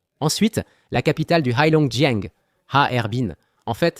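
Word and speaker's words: 哈尔滨: Ensuite, la capitale du Haong Haerbin. En fait, c'est trois syllabes haerbin. Ça ressemble à Harbin mais c'est haerbin.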